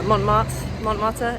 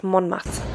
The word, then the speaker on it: Montmartre: Today I think I'm going to go to the Sacre and MontMartre area. 100% pronounced that wrong. It's MontMartre.